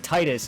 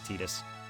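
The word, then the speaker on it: Tidus: sit there and take Titus and call the game something else I his name is actually pronounced tetus oh oh yeah tus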